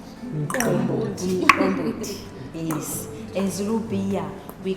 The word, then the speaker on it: umqombothi: Will you please pronounce it Umqombothi? Umqombothi.